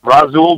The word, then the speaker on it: Rasul: Rasul Douglas.